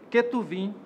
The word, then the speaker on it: Ketuvim: O termo é formado com as iniciais dos livros que fazem parte da Tanakh: Torá, Neviim, pronúncia atual da palavra Nebiim, Ketuvim, pronúncia atual da palavra Ketubim. Torá é um conjunto formado por 5 rolos sagrados: Gênesis, Êxodo, Levítico, Números e Deuteronômio.